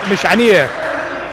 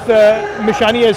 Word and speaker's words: Mishanieh: He said, we're the only ones who pronounce their last name right. It's not Mishani, it's Mishanieh. Oh, he gets tied up, and Coach Nesser called.